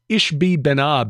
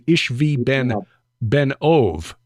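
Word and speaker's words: Ishbi-benob: by one of them whose name is Ish ishbi benab is how it looks but it's actually ishvi Ben ove which means ishvi son of the medium um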